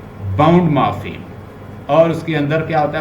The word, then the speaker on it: morpheme: मॉर्फीम, पहले तो उसकी प्रोनाउंसिएशन ठीक कीजिए. मॉर्फीम, मॉर्फीम जो है, हाँ यस, जैसे मिनिमल, फा,